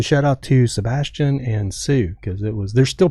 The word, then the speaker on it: Tsu: be happy Sue TSU it's pronounced Sue though that's that's a website.